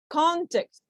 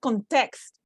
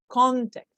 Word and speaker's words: context: the examples okay so examples for nouns that are two syllables context can you see that it's not context no context because it's a noun paper visa